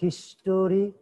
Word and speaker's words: history: এটা উচ্চারণ হবে হিস্টোরি, লিখতে হবে হিস্টোরি, কিন্তু উচ্চারণ করব আমরা কি? হিস্ট্রি।